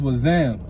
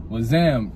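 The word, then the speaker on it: wassam: going up all right the first word is was zam was zam all right you spell that bit like w-a-s-s-a-m right so exam is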